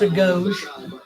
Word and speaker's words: agoge: anything wrong with the Gogi I really don't yeah it's actually pronounced a ghost what pronounced a ghost everyone everyone calls it Gogi because we're you know Alabama and Tennessee but it's hot it's